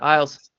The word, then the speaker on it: Isles: Is it Isles? Is that how you say it? Yeah, Isles.